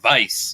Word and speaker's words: Weiss: Like, I mean, there's a lot of people in America with the last name of Weiss, but it should be like Weiss, like White, or like there's a lot of people with Schwartz, and stuff like that.